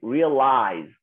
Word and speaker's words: realized: Okay, realized. Aquí termina. Todos los que como este verbo termina con la vocal, se pronuncia como con una D al final.